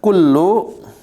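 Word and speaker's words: كُلُّ: Nah, kullu sering nih. Kullu ini pakai kaf biasa terus lamnya ditasjid jadi kullu.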